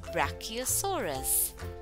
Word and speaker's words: Brachiosaurus: Let's pronounce Brachiosaurus. Brachiosaurus.